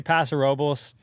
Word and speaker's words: Paso Robles: in California Paso Robles is that how you pronounce it is that correct you know I say Paso Robles a friend of mine says Paso it's your